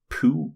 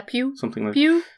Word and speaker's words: Pugh: She's played by Florence Pugh. P-U-G-H. How do you pronounce that? Pugh? Yeah, Pew.